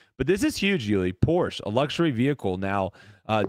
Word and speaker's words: Porsche: just keep um por people want us to pronounce it properly sorry Porsche Porsche yeah Porsche but she feel like people say Porsche yeah for sure the the the actual pronunciation is Porsche okay isn't there a